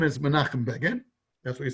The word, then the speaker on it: Begin: what he said and it does not rhyme with fagin that's what he said now the mcgiller from menachem begin begging does rhyme with the fagan i mean listen pagan fagan it rhymes you could say i have nothing to do with fagin fine but to say it doesn't rhyme it does rhyme let's get it vegan fagin rhymes it does that's a story just